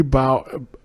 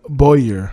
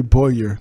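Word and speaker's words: Bowyer: job and see Geoffrey bow Geoffrey bow Chapman plays Jay Carter he's known he's a producer on the show as well oh it's a Boyar okay so that sounds pronounced Geoffrey Boyer Chapman yeah so he's Jay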